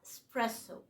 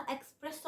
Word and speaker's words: espresso: ايطاليا فعلا ولا ايه بس هو الاسم ايطالي فالنطق الايطالي الصح هو اسبريسو امريكانز يوروبيان وكده الناس اللي مش ايطاليين يعني ساعات بينطقها اكسبريسو على اساس ان هم بيقولوا الكلمه الانجلش بتاعتها يعني تمام ولكن هي النطق الصح اسبريسو اوكي اسبريسو كمان انا